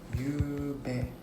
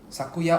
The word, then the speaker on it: 昨夜: is the kanji already you bet oh same oh Sakuya or you bet is fine lol okay so basically it's the same kanji for both pronunciation lah Sakuya or you bet whichever one you choose